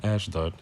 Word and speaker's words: Ashdod: bastard shall dwell in ashdod and i will cut off the pride of the philistines con so let's go where is ash dot exactly ashdod ashdod or ashd arabic pronunciation is the sixth largest